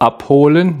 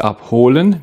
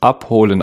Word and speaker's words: abholen: Die Betonung liegt auf der ersten Silbe, abholen, nicht abholen. Wir sprechen es abholen aus.